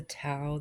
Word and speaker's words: tau: Um, I found the towel the other day and I know that it's tow now because in the article I just read it says tow rhymes with cow.